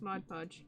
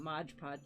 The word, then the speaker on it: Mod Podge: and Mod Podge yes I'm saying it correctly now yes Mod Podge it's not much pot okay he used to